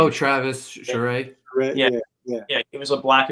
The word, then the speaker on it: Charest: Oh, Travis Charest.